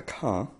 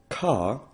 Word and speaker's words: car: A does not change when it's followed by R, and R is rolled, ar. So, though car and car is spelt the same way in English and Welsh, there is a difference in pronunciation.